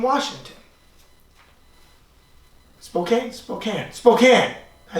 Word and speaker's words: Spokane: in a prime Ali signed Eli S from Spokane Washington Spokane Spokane Spokane I said Spokane forget about it